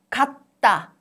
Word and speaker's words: 갔다: They look similar in a way, but this word has 주 in the end of the first syllable. It affects 주. So 주 becomes 뜨 sound. 갔다, 갔다, 갔다.